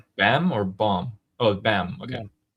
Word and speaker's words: Bam: Uh Don Carmon is saying Ali John is pronounced Bam. I know not bomb.